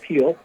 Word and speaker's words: Gil: He was going to start this game, but they're going with Lewis Gill, G-I-L, but pronounced Gill.